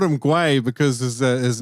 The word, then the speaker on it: Gui: Hey, I called him Gui. I called him Gui because his name is spelled G-U-I, and as like, it's funny in